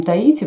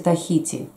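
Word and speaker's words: Tahiti: По-русски мы говорим Таити, по-английски читается Тахити.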